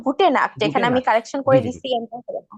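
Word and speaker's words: Gute Nacht: কেন আচ্ছা গুটেন Morgan গুটেন টাগ গুটেন আবেন গুটেন নাক গুটেন নাক না গুটে নাক এখানে আমি কালেকশন করে দিছি হ্যাঁ আচ্ছা আচ্ছা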